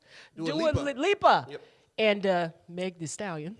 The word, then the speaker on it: Lipa: see a picture cause dua lupa do i always say her name wrong i like your music though lipa and uh meg the